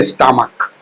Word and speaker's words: stomach: जैसे स्टमक, STOMACH, तो CH का उच्चारण क्या हो रहा है, क हो रहा है, इसमें S जुटेगा, स्टमक्स।